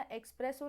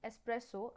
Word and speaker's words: espresso: So make sure यापुढे बोलताना एक्सप्रेसो नाही, एस्प्रेसो असं म्हणा.